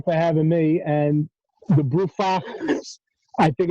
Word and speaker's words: Brufach: having me and the broofax i think it's awesome that you didn't correct his pronunciation of your name did i say it wrong that's exactly right yeah that would be